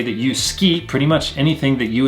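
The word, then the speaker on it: すき: Now, with this right here, although it is spelled su-ki, we don't pronounce it as suki, we pronounce it as ski, almost like S-K-I, almost like we drop the U sound off this right here.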